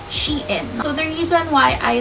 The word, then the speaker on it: Shein: you come at me sheen pronunciation according to my research that says it's pronounced as she in so the reason why